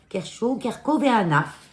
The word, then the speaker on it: Kerchoveana: Après, on a la Maranta Kerchoveana variegata. Kerchoveana. Normalement, latin, on ne prononce pas CH en ch.